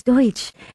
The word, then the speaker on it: Deutsch: And we continued to hear Douche. And then one time, Jen sent it to me, and then she said, Zoe Douche, and I go, it's Deutsch. And she goes, oh, Vito keeps saying douche.